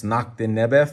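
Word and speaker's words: Nakhtnebef: in his lord but he is most commonly referred to as noctinibu which is really just a greek corruption it was the name given to him by the greeks because they probably couldn't pronounce nakhta nebe for some reason and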